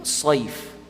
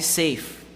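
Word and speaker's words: سيف: And sayf, sad, you can't say safe, not safe, sayf.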